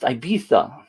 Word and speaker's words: Ibiza: Keith says it's pronounced Ibiza.